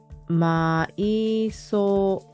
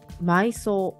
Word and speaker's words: 埋葬: ここにあります音読みマイマイこれは埋葬埋葬埋葬と読みます訓読み埋めるうまるあり